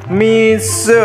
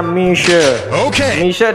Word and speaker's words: Mixue: bermain Tower ini itu dibacanya Miso ya guys ya dibacanya Michele dalam bahasa Mandarin me artinya madu dan se artinya salju diambil dari kata Feng Me yang artinya manis diambil dari kata tiang mie jadi kalau digabung itu mishare salju yang manis seperti